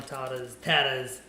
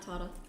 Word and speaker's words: Tatta: And it is Tatta, not Tata.